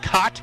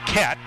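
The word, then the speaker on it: Kaat: It looks like Cot, K-A-A-T. They pronounce it Cat.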